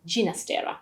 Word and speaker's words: Ginastera: to those roots and preferred to pronounce his name with the soft g ginastera instead but his music